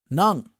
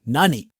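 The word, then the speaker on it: 何: None. What. It can also be pronounced as nani.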